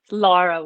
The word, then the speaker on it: Lara: Lara Waldman, but Lara you know, Waldman, North yes. Americans have a hard time saying Lara.